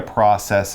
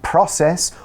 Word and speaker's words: process: oven you're doing a process and something will happen it will lead to something yeah and mike very kindly described a process or process both pronunciations are okay in his talk about